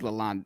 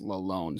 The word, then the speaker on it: Lalonde: um I think alone I think technically I said Lalonde earlier in them so but I think I heard on TV that he technically wants it pronounced alone so Derek alone I